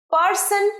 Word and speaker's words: person: এবার আমার সাথে বলো, পারসন নয়, রটা একটু কম উচ্চারণ করবে। স্মার্ট ইংরেজি শিখতে গেলে করতে হবে আমার সাথে প্র্যাকটিস। পারসন, পারসন, পা পা নয়, মুখ খুলে বলবেন পারসন।